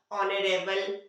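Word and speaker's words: honor: उसी तरह से ऑनेस्टी, ऑनेस्ट, ऑनरेबल, ऑनर, ये जो वर्ड है पर्टिकुलर सब, इन्हीं के पहले क्या होता है, मतलब ओ के पहले एच आता है तो एच साइलेंट होता है।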